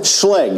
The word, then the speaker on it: Schlage: Say the name one more time because I've been mispronouncing it for years. The Schlage. Schlage.